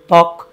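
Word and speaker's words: ত্বক: করি তবক। সবসুর কেউ উচ্চারণ করি না।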